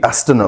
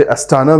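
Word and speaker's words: Астана: Kazakhstan में हुई, एस्टना में, राइट? आप इसे एस्टाना भी बोल सकते हैं, आप एस्टना भी बोल सकते हैं, जो भी आपका प्रोनाउंसिएशन हो।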